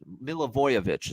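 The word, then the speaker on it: Milivojevich: The other quarterback, Allesio uh Milavoy Milavoyovich is how you say it.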